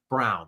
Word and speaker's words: Braun: Uh it it does look like brown but or bronn I should say but it is pronounced like the color brown.